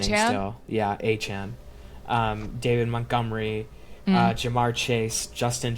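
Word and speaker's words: Achane: Yeah, Achan.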